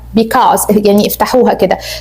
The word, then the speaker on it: because: I have a meeting Note for your pronunciation for Because Becoz is wrong Be - qaz so we say ,